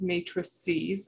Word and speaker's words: matrices: and the plural is matrices that's how it's pronounced uh long e that's uh the x